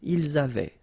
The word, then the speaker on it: ils avaient: And then you saw probably that we've got also here A-V-A-I-E-N-T, but then you pronounce it avait.